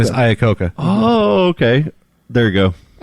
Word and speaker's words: Iacocca: Lee Iacocca is how you pronounce it. His first name is Lee. Oh. His last name is Iacocca.